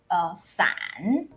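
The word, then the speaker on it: 伞: not that good because umbrella in Mandarin is san. San. Yeah, san. That's an San. umbrella. And at the same time, the separation, like separate, it's san. Oh. So it sounds very Similar. similar. Yeah, even just the tone is different.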